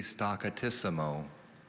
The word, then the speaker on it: staccatissimo: the word again staccatissimo are there any alternate pronunciations i only see staccatissimo okay staccatissimo s t